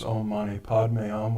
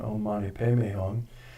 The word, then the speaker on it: Om Mani Padme Hum: You may know it as Om Mani Padme Hum, which is the Indian pronunciation. This is the Tibetan Om Mani Padme Hum.